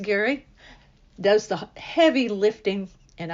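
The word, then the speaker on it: Garry: articles so Gary g r r y but pronounced Gary does the heavy lifting and I just get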